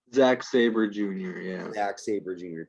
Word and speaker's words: Sabre: Is it Saber? How do you pronounce this guy's last name? Zack Sabre Jr.